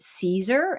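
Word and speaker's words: Siser: remember that Stephanie is actually an educator for Caesar products um it's spelled s i s r but it's um pronounced Caesar and Caesar makes um materials that we use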